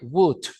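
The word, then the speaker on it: would: recordarla que se contrae Wood Wood se escribe w o u l d ese Boot no traduce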